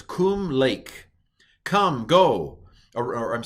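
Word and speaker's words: קום: So this word is pronounced kum, all right?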